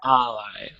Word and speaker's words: ally: you Matthew good reading this word here is Ally the emphasis comes on the first syllable okay yeah Ally yeah not Ally yes